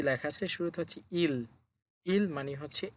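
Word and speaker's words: 일: নিচে আছে রিউল। রিউল নিচে যেহেতু আছে সুতরাং শেষের বর্ণ উচ্চারণ হবে ল। তাহলে উচ্চারণ হবে ই ল ইল।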